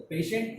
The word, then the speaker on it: patient: Now T, here T is not to be pronounced like T, but sh. Some spellings are there where we pronounce T as a sh.